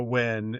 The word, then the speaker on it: Nguyen: in the Marine Corps, and she was a Win, spelled the same way.